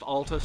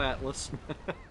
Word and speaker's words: Altus: If you're coming to the Altus Plateau for the first time, it's pronounced Altus, not Atlas.